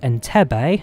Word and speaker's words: Entebbe: jomo kenyatta to entebbe it's pronounced enter bay thank you everybody who